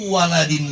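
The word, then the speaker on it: وَلَدٍ: Enggak bacanya awil, enggak. Waladin. Waw lam dal. Enggak pakai alif lam.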